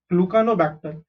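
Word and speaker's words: Gluconobacter: Acetobacter, and GLU is glue, CA is ca, NO is no, glucanobacter.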